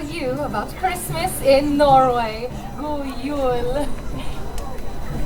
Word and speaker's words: God jul: God jul. That is how you say Merry Christmas in my country, so let's hear you all try it.